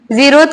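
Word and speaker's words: zeroth: जीरोथ लॉ, जीरोथ कैसे लिखा जाता है, ये पी साइलेंट होता है, ठीक है। जीरोथ पी का प्रोनाउंसिएशन नहीं होता है, ठीक है, समझ गए कि नहीं।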